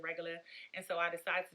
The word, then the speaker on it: Regula: So regular is just exactly how it sounds. It's regular. That's how we say it here in the DMV. We pronounce it regular.